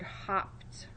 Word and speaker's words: hopped: It's a closed syllable, ends with a consonant, vowel sound is short. We had to double that consonant to keep that vowel sound short. We might think it was the word hoped, right?